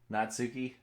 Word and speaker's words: Natsuki: The U and Natsuki is silent. Saying it normally, it's like Natsuki.